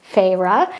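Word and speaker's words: Feyre: I'm so confused I didn't know how to pronounce her name which is farra and I was lost okay but then it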